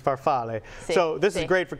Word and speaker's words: farfalle: and again that's farfalle if you want to say the actual pronunciation is farfalle so this is great